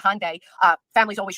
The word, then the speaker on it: Hyundai: embarrassing well it's a Hyundai I said it wrong it's not a hyunda it's a Hyundai uh families always d